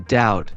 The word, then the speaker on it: doubt: the K in knife or the b in doubt for instance they're there but they're not pronounced it's like English enjoys keeping us on